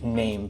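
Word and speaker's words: Naim: I said I am I pronounced it wrong somebody from corporate actually corrected me kindly and said it's actually name but that's going to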